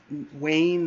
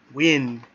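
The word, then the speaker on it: Wynne: And also, Wayne that I was talking about, her actual name is Wynn. Wynn. Yeah, I know. I just felt like an idiot after that, pronouncing the name wrong.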